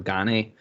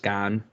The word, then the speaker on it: Gane: had uh ufc rosenstrok versus gone i was pronouncing it incorrect when i did the preview i called him cyril ghani but it's just gone he is french um what do you think